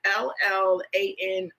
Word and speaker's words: Llano: I believe it's pronounced Llano. It's Llano, and it's just a nice sweet red blend.